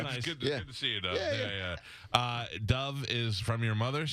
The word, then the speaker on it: Dov: I know, but it's DOV.